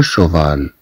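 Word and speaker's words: cheval: إذن سي مع أش تعطي الصوت ش، مثلا لو شوفال، مثلا لو شوفال تنطق كالشين في اللغة العربية.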